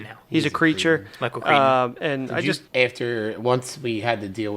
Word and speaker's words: Crichton: Michael Crichton. It's Crichton. That's what I'm just going. Crichton. Crichton. I just freewheel it here and then. Michael Crichton. It's Crichton now. He's a creature. Michael Crichton.